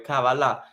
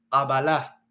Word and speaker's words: Kabbalah: Kabal es con una kaf, ka, un sonido fuerte, gutural, pero la mayoría de las personas lo pronuncian con un sonido suave, Kabbalah, pero realmente la pronunciación correcta es fuerte, ka, Kabbalah.